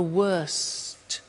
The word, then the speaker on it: worst: Bad, worse, the worst. Don't forget to pronounce the T.